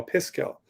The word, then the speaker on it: Piskel: s k e l pisco instead of pixel like they just reversed it um and aiden made